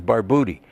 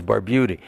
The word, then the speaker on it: Barbutti: called Santo Mena and in Italian the U was pronounced like ooh so the correct pronunciation is barbouti okay but when they